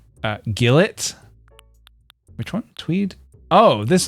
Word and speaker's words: gilet: I love the tweed gilet. It's actually pronounced gillet.